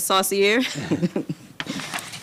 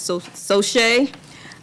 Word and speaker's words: Saucier: plot request for and i was also pronouncing it saucier but i i guess it's so so shea um for so shay